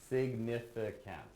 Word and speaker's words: significant: either way I'd say I really believe it has four syllables significant yeah anyhow sorry guys